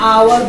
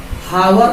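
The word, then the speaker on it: hour: नो, इसको हम लोग आवर पढ़ते हैं, आवर, हावर नहीं पढ़ते. ओके, तो इज not pronounce with the एच, इट is pronounce with the आ, आवर, half an आवर.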